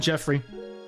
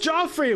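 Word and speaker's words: Geoffrey: And then I was separated from Jeffrey. He's like, it's pronounced Joffrey! Whatever, Jeffrey.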